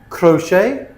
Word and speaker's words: crochet: So they're spelled ch, but we pronounce them sh. Okay? Chef, chalet, machine, brochure, parachute, chaperone, chandelier, crochet, quiche.